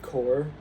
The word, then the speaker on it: corps: Um in the word core um I'm talking about the one the word that's spelled c o r p s.